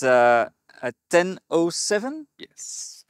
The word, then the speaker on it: TEN-07: with your daily ride yes it's uh at 1007 yes pronounced like that yeah 107 actually yes and it's from the Netherlands yeah